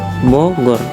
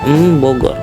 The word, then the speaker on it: Bogor: ialah Rahmat bukan Rahmat kemudian ada kata lafal Bogor diucapkan ialah Bogor bukan mbogor kemudian ada memenggal kata